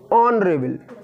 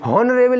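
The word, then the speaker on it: honourable: ऑनरेबल, है ना, हॉनरेबल नहीं, ऑनरेबल। मैंने बोला एच के बाद अगर वो आ जाए समझ लो एच साइलेंट होगा, समझ रहे हो?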